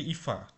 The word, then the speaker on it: Eva: তো ইফা নয়ম্যান, এটা উচ্চারণ কিন্তু ইফা, ঠিক আছে?